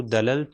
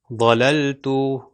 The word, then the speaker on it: ضللت: غلط ہو جائے گا۔ دیکھیے پھر سے تلفظ اس کا، یہ ضللت، ضللت، اب میں دال سے کرتا ہوں دللت، غلط۔ اب ذال سے کرتا